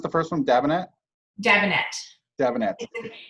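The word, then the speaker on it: Dabinett: Wait, how'd you pronounce the first one? Davenet? Davenet.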